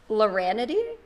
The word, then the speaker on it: Laranity: it differently every time but it's it's lorrainity it is you're you actually nail this everyone messes it up but you did this correctly i'm impressed and so